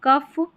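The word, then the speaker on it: cough: लाफ, कफ या कॉफ, लाफ, कॉफ, इनफ और रफ। यहाँ पर जो GH है ना, इसको फ पढ़ा जा रहा है।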